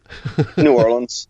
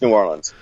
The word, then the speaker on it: New Orleans: New Orleans. New Orleans. Okay. Yeah. Just New Orleans.